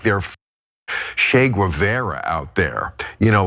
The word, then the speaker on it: Che Guevara: they're getting all uppity this is not Che Guevara it's Che Guevara just pronounced it correctly which by the way